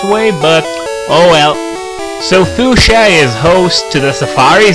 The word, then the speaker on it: Fuchsia: fuchsia is spelled Common Sense would dictate that it's spelled s but instead it's CHS so it looks like some kind of German World or something FIA or why not even foxia if you pronounce the h that way so yeah I never